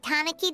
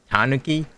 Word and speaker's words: Tanuki: in the city remember when we chased that tanaki down this way good times are how did you say it like that Tanuki is Tanuki Pon remember I know it's been